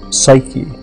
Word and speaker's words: Psyche: Psyche is how we pronounce it now, and the word means soul.